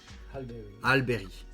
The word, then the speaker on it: Halle Berry: Bon, je sais pas si ça se prononce comme ça. C'est Halle Berry qu'on dit? Halle Berry.